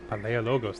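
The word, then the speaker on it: Palaiologos: is a sad sound paleo logos that's how you pronounce that the last byzantine emperor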